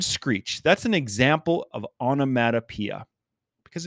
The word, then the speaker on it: onomatopoeia: of a tongue twister there's six syllables there onomatopoeia onomatopoeia and one way i